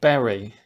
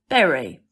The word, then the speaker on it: bury: Berry. Berry. How do you spell it? B-U-R-Y. Good. But there's another kind of berry. B-E-R-R-Y. Yeah, you like see. Strawberry. Yeah. Blackberry. Same pronunciation. Cranberry. Different spelling. Different meaning.